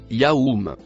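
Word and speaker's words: يوم: Donc le mot Kenom se traduit correctement comme su de façon à ce qu'il le mot vert se prononce yaou.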